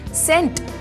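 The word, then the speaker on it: scent: नहीं किया जाता है जैसे की सेंट जिसमें सी अक्षर उसका उच्चारण नहीं किया गया है ऐसे ही अंग्रेजी में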